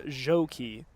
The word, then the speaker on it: Gjokaj: This is where the pronouncing sheet comes in handy. Number 33, Alexandra Joki, spelled Gjokaj.